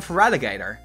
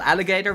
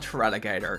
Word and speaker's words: Feraligatr: And then Feraligatr. Not Alligator, but Feraligatr.